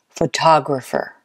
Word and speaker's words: photographer: or the fourth photographer I hope you said the second syllable photographer let's try another one